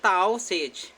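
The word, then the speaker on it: Taoiseach: वो कहा जाता है ताओ सेज। ठीक है, मैं लिख देता हूँ स्पेलिंग, ताओ सेज कहा जाता है प्रधानमंत्री को आयरलैंड में।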